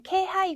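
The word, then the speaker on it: 気配: 그래서 뭐 확률상으로는 이게 훨씬 더 많겠지만 네, 의외로 예외적으로 K라고 읽으셔야 되는 그런 경우도 꽤 많이 있습니다. 그래서 지금 나와 있는 K하이 같은 경우에는 어떠한 기색, 뭐 느낌, 기척이라고 하는 단어인데요.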